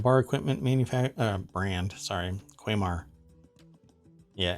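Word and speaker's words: Quamar: coffee grinder and bar equipment manufacture brand sorry quaymar yeah it's spelled q-u-a-m-a-r has rolled out the cereal q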